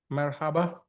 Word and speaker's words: Merhaba: Merhaba. Am I right? Merhaba. Yes, your pronunciation is great, and thank you for inviting and accepting me this exclusive event.